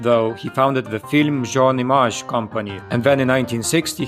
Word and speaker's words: Jean Image: the Hungarian Imre Hajdu, better known by the stage name Jean Image, this last name based on the French pronunciation of image sounding like the first syllables of his name.